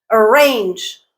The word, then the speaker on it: arrange: is the stressed syllable arrange arrange arrange range is the stress syllable let's look at some